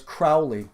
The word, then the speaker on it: Crowley: right about that people like it when you pronounce his name right so it's Crowley so I don't really give a [ __